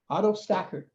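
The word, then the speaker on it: AutoStakkert: good stuff and um how you spell it is a-u-t-o capital s-t-a-k-k-e-r-t auto stacker and uh it's a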